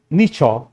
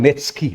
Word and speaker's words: Nietzsche: Si Friedrich Nietzsche, pag pinasa niyo po ito, parang Nietzsche, no? Pero Nietzsche pala ang kanyang ang kanyang pronunciation, is a 19th century German philosopher na nagsabi, God is dead.